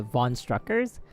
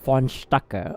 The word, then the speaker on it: Strucker: von struckers and then they pronounce it von strucker right but like it's i think it's german i don't know but this um this the actual like person uh said his own name and he said like fonstaka or something like that i was like huh